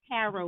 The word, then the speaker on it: tarot: she gets she does tarot reading there's no t you don't pronounce the key at the end right my back so